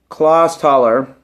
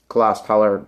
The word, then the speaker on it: Clausthaler: It's from, I believe the beer is pronounced Clausthaler, and it's imported from Germany.